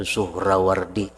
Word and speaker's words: Suhrawardi: Membacanya itu Suhrawardi, nyanta baca Suhrawardi. Suhrawardi bisinin muhmalah madmumah suh wara'aini al ulama tuhatun raw wasani itu sakinatun baldatun min Iraqil Ajam, satu negeri daripada Irak Ajam.